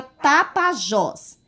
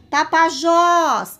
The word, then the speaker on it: Tapajós: Aqui eu tenho um exemplo de a palavra tapajós. Tapajós. Qual é a sílaba que eu falo com mais intensidade, que eu falo com mais força, que ela se destaca?